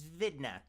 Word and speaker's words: Vidna: Her name is Vidna. Vidna? Yeah, Is that spelled with a W or a V?